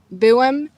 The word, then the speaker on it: byłem: In Polish we have many words where changing just one sound changes the meaning completely. A common example are the words "byłem" and "biłem".